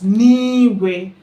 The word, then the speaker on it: n'igwe: But niwe, like in heaven, it's actually na igwe, but because there is one of the rules in Igbo language, I is there, so we put apostrophe, so pronounce as niwe.